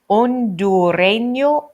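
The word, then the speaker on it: hondureño: Tikal Guatemala from Guatemala own do rain yo own do Aranea remember the H is silent and that is from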